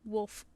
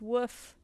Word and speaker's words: Woof: Everyone always reads it as Wolf with an I. I'm always like, where are you getting the L from? It's woof. You're the first to say it right.